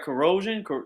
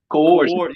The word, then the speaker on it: coercion: Did I say it right? Corrosion. I say that's corrosion. That's like on the battery. What do you say? Coercion. Yeah. Coercion. Yeah.